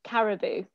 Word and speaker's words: Caroboo: don't know how to pronounce it could you pronounce the name of your company yes it's caribou caribou first of all sounds very exotic um